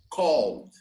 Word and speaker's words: called: notice i just called called okay called you only pronounce the d called not calling okay where did you